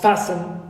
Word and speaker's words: fasten: It concerns silent letters like come, walk, fasten. So here in come and walk, the L is silent. So for them, it's a kind of historic elision. Right. Fasten, T is silent.